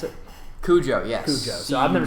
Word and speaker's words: Cujo: Is that how you pronounce it? Cujo, yes.